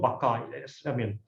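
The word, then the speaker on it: Baťa: It's a Czech word, actually. It's a Czech name. There's one person called Thomas Bata. It's not pronounced Bata, it's called Baka.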